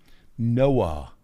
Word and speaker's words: NOAA: Noah. It's not the guy who built the ark in the Bible. It's spelled differently too. It's NOAA.